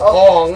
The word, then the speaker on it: Aang: Remember, it's pronounced in Asian language, so it's Ong. Ong and Katara are relatively new actors.